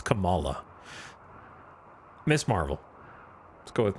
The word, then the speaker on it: Kamala: I think I did because I get confused because it's not the they don't pronounce it the same as Kamala. It's Camala.